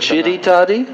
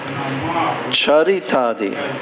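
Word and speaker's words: चरितादि: Chiritadi? Not chiritadi. Charitadi. Tanama rupa chiritadi. Tanama rupa chiritadi sukirtanano. Okay. That's more or less okay. Tannama rupa charitadi sukirtananu.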